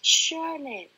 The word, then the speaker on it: surname: Surname. Where is surname? The first syllable. Okay, first syllable.